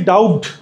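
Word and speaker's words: doubt: anyway বা হচ্ছে how ever দুইটারই মিনিং হচ্ছে এরকম আসে যাই হোক টাইপের তারপরে আনডাউটেডলি বা নো ডাউট মানে কি বানানটা লিখি ডাউট উচ্চারণ কি ডাউট এরকম হয় ডাউট বি এর উচ্চারণটা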